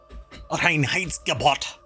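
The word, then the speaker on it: Reinheitsgebot: law uh the Ry wait it's Rin height gabot you have to say it like that um it's very intense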